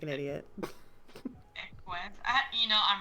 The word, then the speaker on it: Equus: Ekis, or I don't know how to pronounce it. I'm probably sounding like an idiot. Equus.